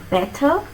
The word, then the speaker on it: better: When you have double consonant letters in the spelling, how many times do you pronounce the consonant sound? Only once. Not better like we Indians do.